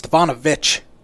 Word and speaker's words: Stefanovic: It's Stefanovic. I said Vich. You said Vic. Oh, my bad. Well, spelled like that at the end. There's no H on the end.